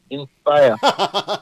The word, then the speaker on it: Inspiyah: This is not spelled the regular Inspire. It's INSPIYAH. Inspire.